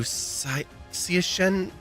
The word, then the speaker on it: Siachen: I said it right. It is Sia Shen.